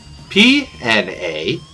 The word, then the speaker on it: Pnakotic: Then it's the narcotic manuscripts with a silent P at the start. Can you spell that? Pnakotic. One more time, please. Pnakotic.